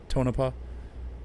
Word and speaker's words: Tonopah: Now Tonopah or Tonopah, I think as he said, is how it's pronounced. Tonopah, maybe.